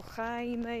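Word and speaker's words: Jaime: hiszpańsku wymawia to imię J się czyta jak h to nie jest Jamie tylko heime jakiś ja to wypowiedziałam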